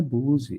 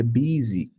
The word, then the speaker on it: busy: Mas não é Buzi, é busy.